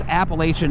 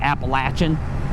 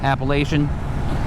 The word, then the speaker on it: Appalachian: the Appalachian Mountains and by the way it's Appalachian Mountains it's not Appalachian uh that's the correct pronunciation Appalachian uh trust the people who live there to